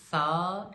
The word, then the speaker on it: ث: So let's get the correct difference between sa and seen. SA is pronounced softly while on the other hand seen is pronounced with a sharper voice like seen a whistle